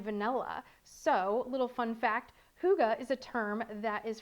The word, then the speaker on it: hygge: how to say hygge that is how you pronounce hygge the hygge blend okay so you are never